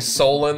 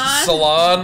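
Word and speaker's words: Salem: my oh my favoritest people instead of saying Solem they try to pronounce so they're like where's salon or soloed like what sir and we sir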